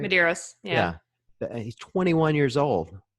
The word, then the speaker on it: Medeiros: Justin, I can't pronounce his last name. Medeiros, is that right? Did I get that right? Medeiros, yeah.